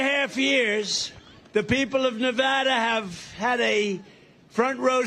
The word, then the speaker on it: Nevada: You know the state, we love it and you always have to say it correctly. Nevada. You got to call it Nevada.